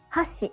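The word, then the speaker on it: 箸: have Hashi and Hashi Hashi means chopsticks it goes from high to low hash means Bridge it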